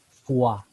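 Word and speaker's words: foie: un pequeño meme estudiaremos El extraño caso de la palabra ortográficamente fle que se escribe con tres de las cinco vocales o y e y se leen con las dos que no aparecen porque se lee fua en inglés Entonces esto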